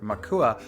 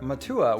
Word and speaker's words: makua: So the word makua, meaning mountainside, can be pronounced either makua or matua with no change in meaning.